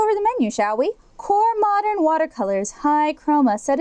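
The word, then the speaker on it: QoR: in high quality paints the core water color pronounced core line is made with a special binding agent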